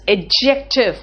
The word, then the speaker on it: adjective: What is adjective? First tell me what is adjective. You don't say adjective. Adjective, this D is silent here.